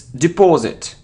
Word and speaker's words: deposit: And it isn't deposit or deposit or deposit, it's deposit, deposit, okay, deposit. So the stress is on this syllable.